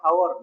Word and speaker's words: hour: Hour ಅಂತಾನೆ ಆಗುತ್ತೆ, not hour. ನಾವೆಲ್ಲ ಏನ್ ಮಾಡ್ತೀವಿ, hour, hour, hour.